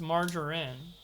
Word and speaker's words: margarine: cancelled margarine margarine margarine no it's margarine you guys are dumb as hell it's soft g not hard g like ruder oh my